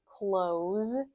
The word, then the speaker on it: close: The S sound at the end of the word close should be a Z, a voiced sound Z and not S, right? So S is unvoiced. I can't hum on it.